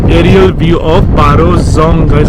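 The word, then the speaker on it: Dzong: So the Zong's spelling is the D-Z-O-N. So D is silent out here guys. So इसके लिए उसको Zong बोला जाता है.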